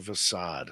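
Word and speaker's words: façade: how you guys doing is it a facade or facade it's a facade Soft C because it's got one of them accent gouge on it or whatever the hell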